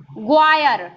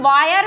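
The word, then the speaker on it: Maurice Gwyer: सर मोरिच ग्वायर। कहीं कहीं पे वायर भी लिखा रहता है, तो क्या होता है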